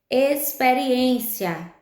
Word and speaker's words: experiência: Experiência, a gente escreve com X, mas esse X tem um som de S.